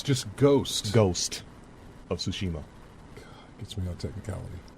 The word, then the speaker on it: Tsushima: yeah no close enough it's like tsushima sushi tsushima yeah would you even make a mistake what did i say ghosts oh it's just ghost ghost of tsushima it gets me on